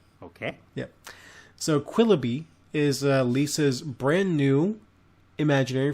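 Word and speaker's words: Quilloughby: Let's hear about it, and I'm assuming it's pronounced Quillaby. You are correct. Okay. Yeah. So Quillaby is Lisa's brand new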